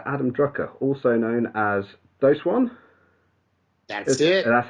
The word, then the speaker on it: Doseone: Adam Drucker, also known as Doseone. That's it. That's how we Hello, pronounce it.